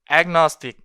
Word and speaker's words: agnostic: agnostic 발음이 된단 말이죠.